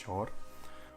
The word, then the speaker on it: Suir: இந்த ஆறு பேர் வந்து ஷோர் அப்படின்னு சொல்லிட்டு SUIR, but pronounced as ஷோர்.